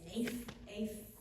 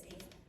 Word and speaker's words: ephah: So I looked it up and it's Epha. E-P-A-H. I didn't know how to say it right last time. It's Epha.